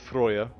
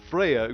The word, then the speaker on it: Freyja: are my norse people it's pronounced freyja think that uh freya we find out that